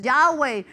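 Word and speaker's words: Yahweh: nombre Ah es que lo está pronunciando mal no es Jehová es yahwe no no es el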